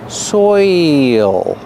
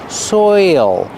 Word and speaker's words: soil: you have the oi sound followed by the dark l soil there's an extra sound there it's not soil soil it's soil your mouth has to open a little bit to make the dark L and there's an extra sound listen soil soil like oil soil soil is very important